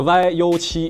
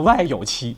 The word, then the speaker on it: YU7: 复提醒大家，这个 YU7 一定要读标准，千万不能带口音，你可不能读成 YU7，这容易引起矛盾。